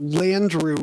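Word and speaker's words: Landru: and stop pretending that Landrieu is this exotic name it rhymes with Andrew yeah I I again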